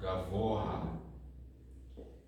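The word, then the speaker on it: גבוה: This word is different than a typical word that ends on hey because you actually pronounce the hey and you have another ah sound after it.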